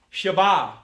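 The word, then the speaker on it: שבע: And in Hebrew, the word seven is pronounced Sheba or Sheba.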